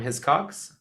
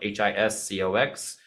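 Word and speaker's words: Hiscox: requiring it right now I get mine from his Cox again I get no affiliate link no nothing I'm not gonna put it in there it's spelled h-i-s-c-o-x his Cox I have an additional Eno policy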